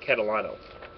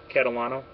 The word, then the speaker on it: Catalano: Actually, I'm sorry, it's Catalano. Deborah, is that correct pronunciation? Catalano? That's how I would pronounce it.